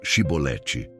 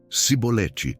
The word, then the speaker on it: Chibolete: Então lhe diziam: "Dize pois, Chibolete". E ele dizia: "Cibolete, porque não o podia pronunciar bem".